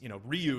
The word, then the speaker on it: Ryu: it's you brought up Ryu. It's, Ryu is the accepted pronunciation, but it's actually not in Japan, it's Ryu, or it's really quick and there's a D somewhere Ryu. in there.